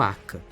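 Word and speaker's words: acca: Itália e por isso seu nome seria a letra h mas que na pronúncia italiana ficaria como AK a encosta norte do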